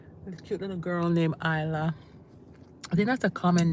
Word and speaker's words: Isla: When I first saw ISLA, I thought I was pronouncing it Isla. But when you think of island, how do you spell island? ISLAND. So take off the ND.